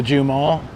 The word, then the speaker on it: J Mall: This is the J Mall. It's kind of like Ju, not J E W. It sounds weird, but the J mall.